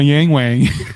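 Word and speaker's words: Yangwang: It's my Yang Wang. So, yes, I would think that's roughly the correct pronunciation.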